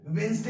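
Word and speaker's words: Wednesday: इसलिए आपको जानना ये जरूरी है कि वेडनेसडे के ही क्या बोला जाता है, क्या प्रोनाउंस किया जाता है, वेंसडे प्रोनाउंस किया जाता है।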